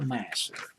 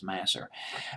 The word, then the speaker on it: Masser: again a guy named Michael Masser or was it Mazur master I'll just pronounce it as mas'r mas'r started out he